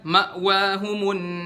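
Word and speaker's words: مأواهم: Dan kesalahan yang keempat, kalau Hamzah sukunnya terletak di tengah-tengah kalimat. Misalnya, ma'wahumun nar. Kita bacanya, ma'wahumun nar, ma'wahumun nar. Harus diperjelas di Hamzah sukun ini.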